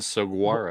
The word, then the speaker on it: saguaro: I also pronounce the G in saguaro.